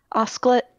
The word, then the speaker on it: osclate: Is that how you say it? Oscillate? Osclate, yeah.